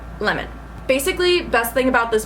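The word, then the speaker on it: Lehmann: 1988 by Michael lemon it's definitely pronounced lemon basically best thing about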